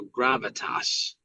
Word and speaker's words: gravitas: But I think it's pronounced though gravitas with a flat A.